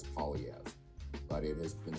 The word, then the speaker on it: Poilievre: you say his name the simplest way for an anglophone to say it is pev but it has been